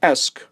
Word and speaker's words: esque: or a mountain scene the suffix that you see here pronounced es spelled e s q e means to look like or be like for example I could